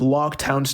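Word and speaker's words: Loguetown: one thing I want to mention too is log Town's name real quick it's pronounced log town because the place is called the place of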